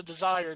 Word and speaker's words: desire: It's also desire, not desire. It's 2 syllables, not 3!